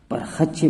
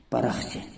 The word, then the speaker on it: پرخچے: طریقے سے مشہور ہے وہ ہے پرخچے۔ لوگ اس کو پرخچے بولتے ہیں جبکہ اس کا صحیح تلفظ ہے پرخچے۔ دوستو ویڈیو پسند آئے